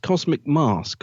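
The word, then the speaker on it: Cosmic Masque: the latest edition of I think it's pronounced Cosmic mask although it's spell mask I think so yeah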